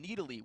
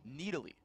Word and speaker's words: Nidalee: And it was okay, look, we want to pronounce the champion Nidalee.